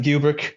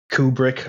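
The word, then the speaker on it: Kubrick: and it's directed by Stanley cubrick or kubri I've seen so many people pronouncing it differently my accent says cubrick yeah every single part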